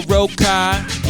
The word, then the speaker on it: Rokkai: Let me go listen to my bro Rokkai. Yeah, rhymes with oh my, I get all the pie.